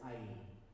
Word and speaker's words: Ai: I want to say AI, and it's not AI. It's just I, or it's IE, which is, you can say it two ways. You can't say it like we would say artificial intelligence.